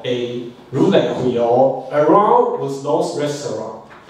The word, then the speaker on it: Roulette: Roulette is a French wrong word. In French, it has the same idea, same spelling, but just a little bit in pronunciation. So let's check it out with Google. English first. Roulette. And the French? Roulette. Just again. Roulette. Roulette. Just a little bit different.